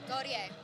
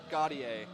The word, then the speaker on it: Gauthier: I'm gonna wanna say Gauthier. We did get the pronunciation. Sam, could you do it properly for us one time? Yeah, Gauthier. Gauthier. So I will do my